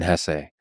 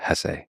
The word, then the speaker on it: Hesse: It was written by Hermann Hesse. And by the way, please allow me this pronunciation of his last name. I've heard some people say Hess, but my whole life I've always said Hesse.